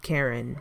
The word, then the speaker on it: Keren: I'm a Karen, but not like the way that, you know, the name is spelled. It's spelled Keren. And it's a race of people who the word Karen means horn.